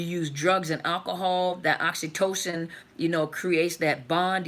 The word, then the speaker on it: oxytocin: was talking about the I actually mispronounce it I say oxytoxin but most you guys knew what I was talking about but is the oxytocin the the chemical oxytocin